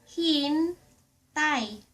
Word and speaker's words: hintay: Hintay! If you wanna tell someone ----- Wait! Hintay! Hin tay Hintay!